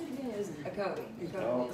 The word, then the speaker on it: Ocoee: It was Ocoee. Oh, Ocoee, yeah, because the Ocoee River.